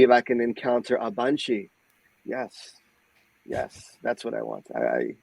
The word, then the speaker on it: banshee: there and see if I can encounter a banshee.